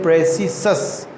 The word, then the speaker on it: praecisus: हम स्पेलिंग जिसके हम लिखते हैं PRAECISUS, प्रेसिसस. इसको हम लोग बोलते हैं प्रेसिसस.